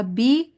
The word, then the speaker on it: بِ: लेकिन इसके नीचे क्योंकि ज़ेर है इसलिए बी कहेंगे।